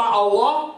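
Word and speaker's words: الله: The second lamb, there's a shadda on Allah's name, so it's removed. Because if you put a shadda on the lamb, that means that you pronounce it twice.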